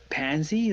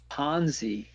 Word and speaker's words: Ponzi: you guys laughing and he said isn't it pronounced pansy like no it's can pronounce Ponzi but it's run by pansies that's when I